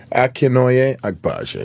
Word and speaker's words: Akinnuoye-Agbaje: Akinnuoye-Agbaje.